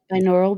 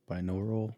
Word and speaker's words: binaural: b i n a u r a l binaural beats oh I got you binaural binaural yeah binaural beats oh like they do